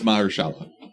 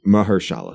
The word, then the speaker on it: Mahershala: How do you say it? I think it's Mahershala. Mahershala. Yeah, that's probably how you pronounce it.